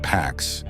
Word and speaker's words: P4X: He adopts a pseudonym P4X, pronounced PAX, like the Latin word for peace.